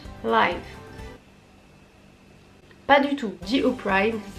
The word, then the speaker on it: Opry: Pas du tout, dit Opry, ça s'écrit O-P-R-Y, City Stage.